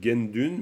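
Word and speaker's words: དགེ་འདུན: allez tiens c'est bizarre on dit gendune mais en fait je vois que c'est taun donc pourquoi de gu à Dun on arrive à gen dun on se dit mais ils l'ont inventé le ou le NA il y est pas quand on dit gen on entend bien le son na donc genune et ben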